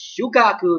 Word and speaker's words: Shukaku: said old priest taught sorry, I'm mispronouncing this. I'm a little bit confused. It's Shukaku to be exact.